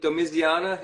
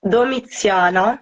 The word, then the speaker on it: Doana: I say your name do Iana am I saying it right yeah uh it's wait it's doana but um yeah with a more marked um how do you